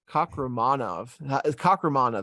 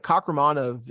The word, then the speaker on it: Kakhramonov: Kakhramonov. That's how you say it. I have to enunciate it. But Kakhramonov, he got beat by him.